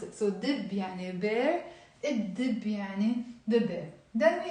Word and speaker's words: الدب: We don't pronounce the lam.